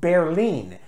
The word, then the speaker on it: Berlin: that is the word the city of Berlin pronounced in German is pronounced bare lean and there's a very